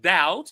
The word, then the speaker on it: doubt: So, as I said, doubt is pronounced without the B and it means when you uh are not certain about something.